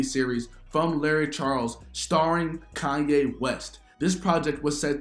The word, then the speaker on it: Kanye: little bit try it I'm sorry Kanye oh I'm from Ohio we say Kenny that's how we pronounce it well I don't care where you from you pronounce my name Kanye oh okay let's go